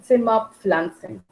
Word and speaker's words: Zimmerpflanze: Die Zimmerpflanze, die Zimmerpflanzen. This PF is to be pronounced as fur. Fur and fur together. Fur. Zimmerpflanze, die Zimmerpflanzen.